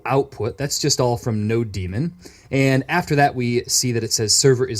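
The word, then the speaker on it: nodemon: said a package called No demon which is spelled like that and there are different pronunciations for this so that's just the way I say it so let's hit enter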